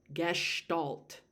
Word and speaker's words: gestalt: of gestalt, and that's how you say it, gestalt.